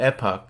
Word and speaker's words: Epoch: used by anti-communist newspaper The Epic Times on the UK pronounced Epoch and as the yellow